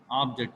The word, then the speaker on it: object: The spelling is same, but the stress point differs the meaning. Object, the first letter receives the stress point. Object, object means aim or goal. Next, object. The second syllable, second letter receives the stress point. That is object.